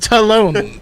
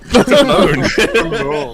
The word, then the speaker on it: Talon: It's pronounced Talon. Talon. Like Cologne, but Talon.